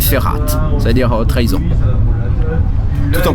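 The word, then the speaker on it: Verrat: r a ok ok prononciation allemande c'est ferat ça dire trahison tout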